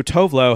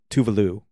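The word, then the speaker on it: Tove Lo: to be outdone we have to stir so tovlo has just like resigned to being called tovlo but technically it's tu vistirque is is the other tove and it should be like tuv tuvalu is how tovlo is actually pronounced but a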